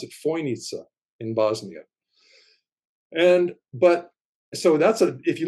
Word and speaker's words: Fojnica: And the east side of the Bosnian Pyramid of the Sun goes straight into the Fojnica River, Fojnica, and they pronounce it Fojnica in Bosnia.